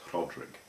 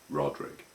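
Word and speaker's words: Rhodrig: An RH in Welsh you do sort of pronounce the H, but it's a subtle thing, it's Rodrig, rather than just Rodrig.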